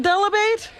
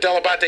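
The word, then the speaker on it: Dell'Abate: father even called himself delabate no my my father always called himself delabot delebate and he said that he just americanized it but della batte is in fact the proper pronunciation so when did your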